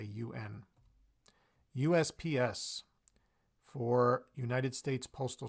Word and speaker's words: UN: for the United Nations so we don't say on we say UN USPS for United States